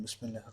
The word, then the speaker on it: بسم الله: বা সিন জের বিস, মিম লাম জের মিল, বিসমিল, লাম কাটা জবর লা, বিসমিল্লাহ, হা র জের হির, বিসমিল্লাহির, র হা জবর রহ,